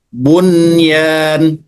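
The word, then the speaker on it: بنيان: sinwanun tidak boleh dibaca sin atau qwan dibaca qinwanun enggak boleh dibaca buyan tapi bunyan atau nuya tapi dunya baik Yang kedua adalah idgham bila ghunah.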